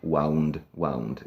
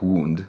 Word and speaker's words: wound: And it's wind, wound. It's spelled like wound, rana, but again, it's a different word. It's pronounced differently too.